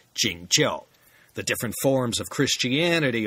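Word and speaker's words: 景教: church as it's sometimes called in Chinese is pronounced jingel the different forms of Christianity all have their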